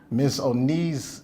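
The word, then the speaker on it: misoneism: emphasis is on the myths and the knee miss o knees yep anybody get it right somebody get right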